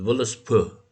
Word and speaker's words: Völuspá: The Völuspá, as it's properly pronounced, is the first poem of the Poetic